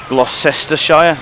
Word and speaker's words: Gloucestershire: Gloucestershire?